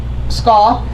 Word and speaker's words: Skau: Skau, rhymes with law, from Senator Reid's office.